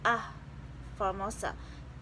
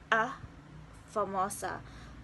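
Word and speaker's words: A Famosa: architectural remains in asia the name is often mispronounced as ah formosa even more malicious as the other portuguese defined a key article were the english letter a a more authentic pronunciation would be a formosa a formosa is one of the most valuable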